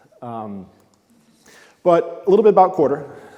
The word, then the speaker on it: Quarter: Now, it is pronounced like financial quarter, and it is an acronym, which actually stands for quarter up and to the right. But essentially, we take all of your data.